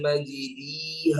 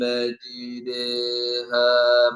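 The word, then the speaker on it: مجراها: ബിസ്മില്ലാഹി മജ്രീഹ എന്നാ വരാ, മജ്രീ, മജ്റാ, മജ്രീ. ഇതെങ്ങനെ ഓതേണ്ടത്? മജ്രീയുടെയും മജ്റായുടെയും ഇടയിലായി. ചില ഉലമാക്കൾ പറഞ്ഞ യാഇനോടാണ് കൂടുതൽ അടുപ്പം.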